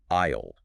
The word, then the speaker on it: aisle: The pronunciation is identical to the contraction for I will. It sounds exactly like aisle. aisle aisle It is